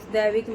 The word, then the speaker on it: दैविक: उसका नाम दैविक है, DAIVIK, दैविक। कोई दैनिक बना देता है, कोई दैविक बना देता है, कोई देविक बना देता है।